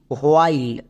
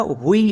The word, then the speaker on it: while: Next এল এর জন্য লো, শব্দের শেষে ই সাইলেন্ট, তাহলে এই ওয়ার্ডের উচ্চারণ কী দাঁড়ালো? WHILE, হোয়াইল। একে আমরা হুই এরকম উচ্চারণ করব না।